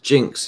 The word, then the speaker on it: Ginx: He said it's Jinx is the TV channel. It's spelled Ginx.